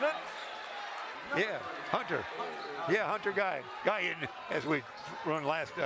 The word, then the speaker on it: Guyon: Yeah, Hunter Guyon, as we run last 2 nights ago. G-U-Y-O-N, but say it like it's Ian.